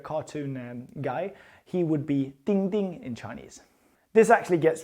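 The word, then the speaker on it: 丁: So you have this character here nail and it's pronounced ding ding ding ding or just one ding actually.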